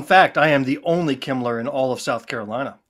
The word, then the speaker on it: Kemmler: Did he pronounce that correctly, Bill? Kemmler.